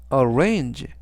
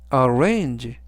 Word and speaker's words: arrange: 뜻이 되겠습니다 이번 단어는 arrange arrange arange라고 발음하시면 되겠고요 이때 강세는 중간 부분에 있는 a 강세가 있습니다 맨 앞에 있는 a 아니라 중간 부분에 있는 a 강세가 있고요 그래서라고 발음하시면 좋겠습니다 는